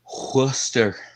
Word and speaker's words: Worcester: You just call it Worcester sauce. Yeah. Worcester. It's like saying oyster with a W.